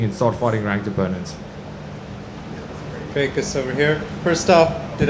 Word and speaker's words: Dricus: They said Dricus, which is a lot closer than, to be honest, the American folk have been struggling to say my name. It's just because of the R. They don't really have the sounds in the vocabulary.